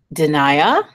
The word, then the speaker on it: Danai: Okay, so it's Danai, and let's pronounce her name correctly because I want to make sure.